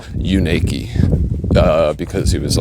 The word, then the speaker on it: Unaka: Um, but yeah, he told me that it's actually pronounced "you naked" because it was like,